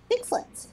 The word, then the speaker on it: Sixlets: Say that slower and pronunciate a bit more. Six. Slit. Pig slit? No! S is in Sam. I is in ice cream. X is in xylophone. L is in llama. E is in egg.